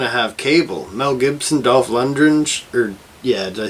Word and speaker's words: Dolph Lundgren: Mel Gibson, Dolph Lundgren, did I say his name right? Yeah, Dolph Lundgren.